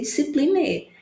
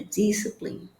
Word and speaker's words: discipline: Disciplina, palavras que terminam com e, você não pronuncia o e, não vai ser discipline, é discipline.